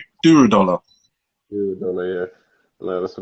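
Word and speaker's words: Durodola: Am I pronouncing his name right? Duradola.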